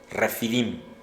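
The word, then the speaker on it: Rephidim: La batalla contra los amalecitas se inició en Refidim, R-E-P-H-I-D-I-M, pero el APH se pronuncia como F, Refidim, ¿ok?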